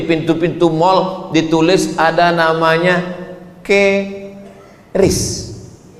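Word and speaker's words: QRIS: Sekarang di pintu-pintu masjid, di pintu-pintu mall ditulis ada namanya ke ris. Cara bacanya gimana sebetulnya? Keris. Q-nya quick. Quick artinya cepat. R-nya respons. Kris quick response code.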